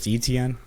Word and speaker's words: Etienne: Do is you, how you I have that pronounce good it. authority? It's ETN.